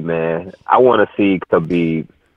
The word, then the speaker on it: Khabib: I want to see Khabib. Hubby. I'm sorry, I said K. To take this, the K is silent, Apollo.